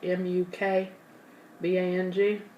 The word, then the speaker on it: mukbang: and it's pronounced mooc bong are you know it's spelled m-u-k b-a-n-g it's mukbang I was told I was wrong